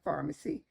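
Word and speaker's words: Farmacy: a little fact sheet I put together by Pharmacy and it's pronounced Pharmacy just like medication Pharmacy it was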